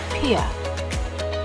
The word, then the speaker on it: Pierre: capital of South Dakota isn't pronounced Pierre as you might think it's actually Pierre whenever we go to